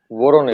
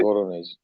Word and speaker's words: Voronezh: एंड मेरे हिसाब से it's part of the larger, वो जो उन्होंने डील है वोरोनजेव, I mean I forget the pronunciation, Voronezh, where Voronezh.